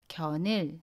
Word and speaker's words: 견을: the next one ‘견을.’ How would you pronounce ‘견을’? The final consonant ‘ㄴ’ meets the vowel ‘으.’ Then ‘ㄴ’ goes to the vowel position, You should pronounce it as . It is 연음 (=linking).